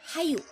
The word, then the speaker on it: hayu: Kalau di depan kalimat dia lengkap bacanya hayu. Tapi kalau ada di akhir kalimat H-nya dihilangkan tapi tinggal yuk.